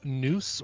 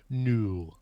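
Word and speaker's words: Nous: great Scott this is a band called noose or knew and owe us so if it's the French pronunciation probably new this is an experimental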